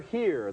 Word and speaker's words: Hire: our next movie is named sure here that's spelled h-i-r-e and this is one